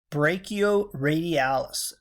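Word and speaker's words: brachioradialis: I ask pronounced this is a tough one pronounced brachial radialis brachio means arm radialis is that bone that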